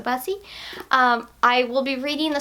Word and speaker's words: Busse: Busse. I think that was, it rhymes with fussy, I think is what I've been told. So Busse.